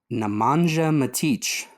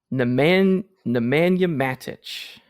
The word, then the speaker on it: Nemanja Matić: This is Nemanja Matić. No, it's Nemanja Matić.